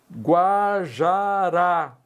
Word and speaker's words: Guajará: oxítona terminada em a Guajará oxítona terminada em A então as duas últimas